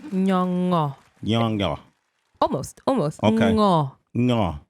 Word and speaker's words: Nyong'o: Oh man, we got the wonderful, the magnificent, the incredible Lupita Nyong'o, ladies and gentlemen, is here with us today.